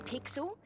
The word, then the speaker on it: Pixel: not weird guy I'm pixel it's easy to remember because it rhymes with pickle it does I'm Foster